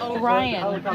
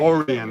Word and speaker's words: Orion: Orion. You said Orion. I'm from a town called It's all right. Orion.